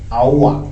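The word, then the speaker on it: Aouar: In France, they pronounce it Aoua.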